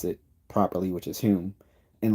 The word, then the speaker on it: Hume: like Americans and others pronounces kept calling him home when it's pronounced him that he he you know changed the spelling of his family name to H so that people would pronounce it properly which is whom and like same thing with Barkley like this